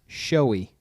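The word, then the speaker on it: Shoei: The proper pronunciation for this helmet is showy.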